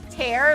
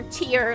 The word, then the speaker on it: tear: I mean, it depends if you say tear, like tearing apart, or tear, like crying.